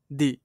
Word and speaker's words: the: দা ম্যান ঠিক আছে এম টা কনসোনেন্ট বলে এখানে দা উচ্চারণ হলো এটা সেম এটাও এখানে